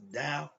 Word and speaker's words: Tao: But in Chinese, you see the T-E-O, what spells Tao, is pronounced Tao.